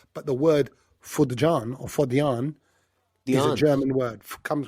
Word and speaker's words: fodjan: Fodjan. They're not... Germans don't do the J... Yeah, so there'd be yeah. So it'd be fodjan.